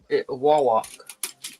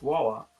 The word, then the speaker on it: Wawak: wall walk.